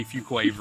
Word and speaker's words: Fuquay-Varina: on the town of Fuquay Varina I call it Fuquay just for E's sake but it's technically yeah it's technically a few Quaver right now so from